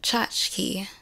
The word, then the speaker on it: tchotchke: I can't pronounce it it's pronounced chachki meaning either a decorative